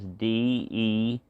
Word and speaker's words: Dewey: So it's Dewey, and the way you spell it is Dewey. Dewey. It's like do e y.